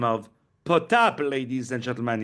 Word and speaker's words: Potap: He goes by the name of POTAP, ladies and gentlemen. It's spelled POTAP, POTAP, and he has released a new project, which we're so happy to talk about, called Slavic Balagan.